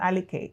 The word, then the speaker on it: Aliker: Aleke is the correct pronunciation.